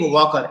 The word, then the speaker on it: Walker: Wave Walker. L is silent over here.